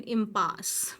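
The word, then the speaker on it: impasse: इम और पास, ये ई जो है ये साइलेंट है।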